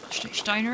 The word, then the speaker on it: Steiner: like two months ago the St in Steiner is pronounced ah okay so it's she's schiner in Shiner in hello Magdalene okay